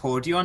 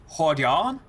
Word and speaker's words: Hordeon: See, his name isn't actually pronounced Hordeon, it's Hordeon.